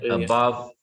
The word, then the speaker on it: above: Above, behind, complete. Again, all of them are 2 syllables. Same thing, 2 syllables. But now our stress is on the second syllable.